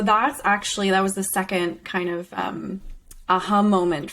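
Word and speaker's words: Seckin: treating endometriosis by tamer think you pronounce it sejkin but it's second okay um but i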